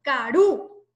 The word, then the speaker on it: karu: Caru. ¿Dónde suena más fuerte? En la U. Caru.